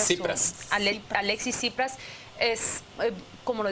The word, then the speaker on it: Tsipras: Pero también creo que el triunfo de Alexis, ¿cómo se pronuncia? Tsipras.